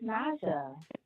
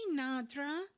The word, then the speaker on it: Naja: This is Naja. Hey, Nadra. It's Naja.